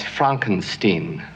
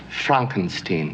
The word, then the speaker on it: Frankenstein: Frankenstein. That's Frankenstein. I beg your pardon? My name it's pronounced Frankenstein.